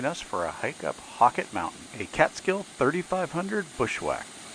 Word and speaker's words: Halcott: raw conditions join us for a hike up hawkit mountain a catskill 3500 bushwack well today we are hiking hockey mountain not to be confused and pronounced hell caught it's pronounced hockey we might do it as you might do